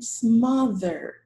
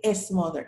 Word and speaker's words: smother: nine either number ten smother careful with the s it's mother don't let me hear you say s mother no smother number 11 ethanol number